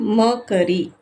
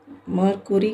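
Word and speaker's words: mercury: ஆயிடுச்சு எம் இஆர்சிஆர் ஒய் இது மெர்க்கரி மெர்குரி கிடையாது மெர்க்கரி அடுத்தது சிக்ஸ்த் ஒன்சி o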